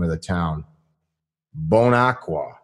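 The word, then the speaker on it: Bon Aqua: name of the town bone aqua I don't know that's how they pronounce it right there right no bone aqua Tennessee which is a stacker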